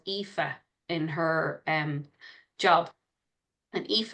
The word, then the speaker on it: Aoife: someone who worked in the UK, and there was a girl called Aoife in her job. And Aoife is a very common Irish name. It's spelled Aoife.